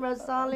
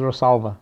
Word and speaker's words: Rosalba: So tell me, so you have Rosalia, is that how you say her name, Rosalia? The smaller one is Rosalba.